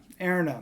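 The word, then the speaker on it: Erina: Erna, that's it, Erna.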